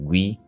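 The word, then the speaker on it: gwei: for ethereum and it's measely used to calculate gas fees right um the correct pronunciation is G and you know like I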